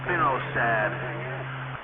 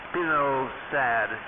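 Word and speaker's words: spinosad: Get some of that spino sad.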